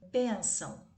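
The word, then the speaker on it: bênção: saber que está bem benção a sílaba bem nasal então é uma paroxítona porque a sílaba tônica é a penúltima e ela será acentuada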